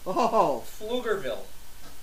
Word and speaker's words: Pflugerville: How do you pronounce the town she lives in? Pflugerville.